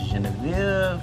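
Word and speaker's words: genièvre: Well, what's even weirder is that in French, juniper is pronounced Genevieve, from which you get gin, from which we get gin.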